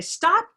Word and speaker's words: stop: know kind of affectation the way we say it naturally as adults would be stop and that simply stops with no air so there's no puff yeah that's about the